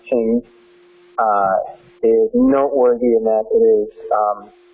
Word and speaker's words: Qing: necessarily, but there are pure Chinese cultivars, and Qing, which is the first one, it's pronounced Qing, is noteworthy in that it's very productive, and it produces a very sweet nut.